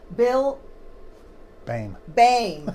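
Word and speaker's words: Boehm: from next door, AMCAP, Bill Bame. Bill Bame. It's spelled weird. B-O-E-H-M, and it comes out Bame for some reason.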